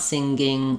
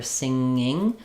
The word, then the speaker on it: singing: I don't want singing or singer, but rather singing. I have to lift up to that ng sound and come back out without my tongue dropping rapidly to make the G sound.